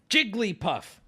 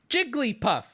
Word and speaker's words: Jigglypuff: and listen you suck Jigglypuff Jigglypuff she says her name with three syllables one more time for the boys back home Jigglypuff Jigglypuff now granted now